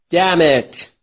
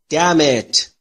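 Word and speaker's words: damn: آروم بگیر خونسرد باش دمت دمت انش تلفظ نمیشه دمت دمت دمت دمت یعنی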